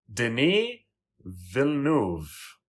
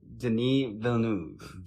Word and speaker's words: Denis Villeneuve: And his name is Denis Villeneuve. Okay. Denis Villeneuve. Denis Villeneuve. Well, I'm always glad to learn how to pronounce names properly because I don't like to insult people like that.